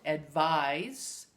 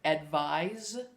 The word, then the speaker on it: advise: with the Z sound advice is an action word it's a verb and the one with the S sound spelled with a C advice is a noun they are related but